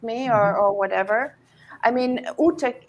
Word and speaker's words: Ute: I mean, Ute rhymes with pute, with rute, and these are not so nice words.